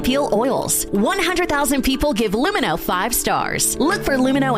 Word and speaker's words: Lumino: Yeah, you got uh you mean Luminex? It's pronounced Lumino. It's French.